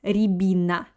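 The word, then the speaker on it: рябина: pronounce this word so pay attention on the letter yeah on the first letter yeah let the ya doesn't have an accent uh that's why i pronounce it like e so first two vowels i pronounce like e re i can't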